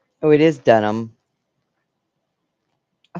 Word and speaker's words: Dunham: Oh, it is Dunham.